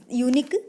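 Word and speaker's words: unique: इट वॉज a blank यूनिक site, और यूनिक के पहले सीधे सीधे आपका लग जाएगा ए। क्यों? क्योंकि भले स्पेलिंग इसकी वॉवल से है, इसका जो प्रोनाउंसिएशन है वो य से जा रहा है, यू से जा रहा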